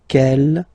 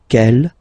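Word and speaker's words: quel: G here feminine singular will become ke with the s fe feminine plural and the good news is that you will pronounce them the same way. All right so kel kel kel and ke.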